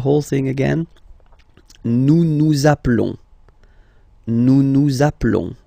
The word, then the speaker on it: appelons: Okay, nous appelons, and then little link would be perfect, so let's pronounce the whole thing again. Nous nous appelons. Nous nous appelons. Okay, final S doesn't exist.